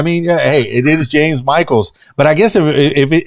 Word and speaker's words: Michels: supposed to be pronounced you pronounce it correctly by the way it it it is Michael's and um maybe that's like my hidden goal is for everybody say no it's not Mitchell's it's Michael's he's big now yes